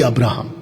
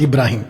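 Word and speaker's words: Abraham: Hebrew Bible वाला परमेश्वर जो खुद ही गॉड है जो अब्राहम को चुना इब्री अब्राहम every अब्राहम नॉट इब्राहिम इब्राहिम Muslims बुलाते है जोइश लोग अब्राहम बुलाते है अब्राहम इब्री इब्री मतलब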